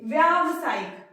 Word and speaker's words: व्यावसायिक: क्या है गलत है अब आप सही उच्चारण करिए व्यावसायिक विवाह तो हम यहां पर क्या लगाएंगे आपकी मात्रा लगाएंगे व्यावसायिक अब क्या हो गया ये सही हो गया तो जब सही उच्चारण आप करेंगे तभी आप सही लिखेंगे ठीक है तो वेबसाइट